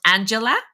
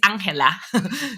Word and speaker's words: Angela: I know that normally that name is pronounced Angela, but Angela is from Colombia, where I am from. So her name is Angela.